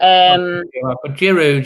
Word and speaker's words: Giroud: I mean, Giroud, isn't it? That's how you say it.